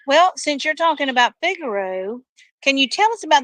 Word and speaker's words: Figaro: where you where you want to go it's Vigoro of course and how are you spelling that because you're saying Vigoro but it's figuro but it's pronounced f i g a r